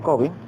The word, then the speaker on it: Covey: hábitos bueno ellos el autor stephen covey aquí pero que se pronuncia kobe había comenzado haciendo una